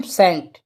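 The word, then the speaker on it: scent: है याद रखना है जहां भी एस के बाद में अगर सी आए तो सी क्या होगा साइलेंट होगा जैसे एग्जांपल के तोर पे ले लेते हैं सेट ठीक है सेंट तो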